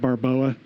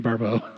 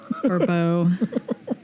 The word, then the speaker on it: Barbeau: Damn that Barboa. I'm sorry. I need to look online and find out how to pronounce her name.